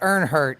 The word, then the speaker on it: Ironheart: it's pronounced Earnhart.